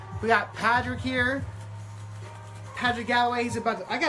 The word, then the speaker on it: Padrick: By the way, if you see this man, his name is Padrick, not Patrick.